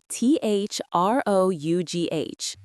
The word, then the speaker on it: through: Like the word through. T H R O U G H. That's seven letters, but it sounds like just one syllable.